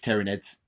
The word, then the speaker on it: Tyranids: Also, sorry, Rem, it's Tyranids. I don't care, I'm still calling them Tyranids.